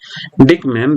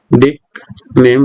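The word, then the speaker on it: Dieckmann: इसे हम बोल देंगे डिकमैन रिएक्शन। ठीक है, इसका एक नेम भी है, वो इसका नेम क्या है, डिकमैन रिएक्शन, DIECK, डिकमैन MANN, डिकमान बोल लीजिए, डिकमैन बोल लीजिए, डिकमैन रिएक्शन।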